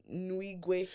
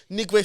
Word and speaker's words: Nwigwe: You're Nigerian, so you know how you say it. Nwigwe. Nigwe, so, wow. Well, I butchered that.